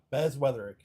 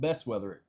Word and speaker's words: Bez Weatherick: I would say it, but since he is here, it's Bez Weatherick. Bez Weatherick? Yeah. Or I call it Best Weatherick. Either or.